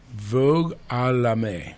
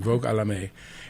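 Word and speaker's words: Vague à l'âme: Vogue à la May, I think is the French pronunciation. Vogue à la May, and it translates lots of different ways.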